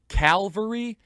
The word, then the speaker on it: Calvary: Now, anyone in the Christian world knows that there's a difference between Calvary and Calvary. I sometimes, without unintentionally, mispronounce one or the other, but I know the difference. Calvary, C-A-L, cavalry. One is where Christ was crucified. The other is horse-mounted military.